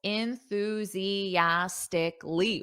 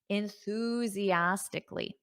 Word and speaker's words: enthusiastically: enthusiastically elastically enthusiastically so notice those syllables enthusiastically whoa there aren't many words in English that have six syllables so listen to that syllable stress enthusiastically so you hear the Ooze more that's the stress syllable enthusiastically repeat after me